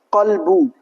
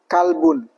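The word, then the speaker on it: قلب: Contohnya, contohnya kalimat qolbu tapi dibaca kalbun. Nah, ini kesalahan yang sangat fatal sekali. Qolbun artinya apa? Hati. Adapun kalbun artinya anjing. Nah, ini kesalahan yang sangat sangat fatal sekali.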